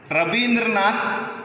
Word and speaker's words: Rabindranath: In West Bengal, they used to say Rabindranath instead of Ravindranath.